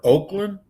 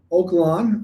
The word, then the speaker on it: Oak Lawn: Is it pronounced Oak Lawn or Oakland? Oak Lawn. Oakland's in California, but yeah, Oak Lawn.